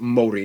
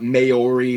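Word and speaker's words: Māori: Korea and Japan yes by the way it's pronounced Mori not mayori Mai they use the New Zealand dollar as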